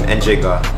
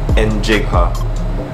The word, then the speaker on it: Njigha: So first, my full name is, M, middle name, Njigha, pronounced as N-J-G-H-A, Njigha, like parang nalagyan mo lang ng letter E sa start, yun Njigha to, Njigha, so yes, that's